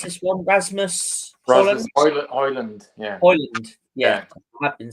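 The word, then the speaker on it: Højlund: I do rate um um how do you pronounce this one Rasmus hland yeah hland yeah I have been saying it right then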